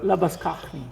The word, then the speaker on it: Labuschagne: So Labuschagne. yes, that is quite the right pronunciation of the surname.